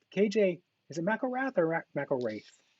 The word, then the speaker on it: McElrath: KJ, is it McElrath or McElrath? Actually, we always pronounce it McElrath, but McElrath. McElrath is probably how they would say it in Scotland.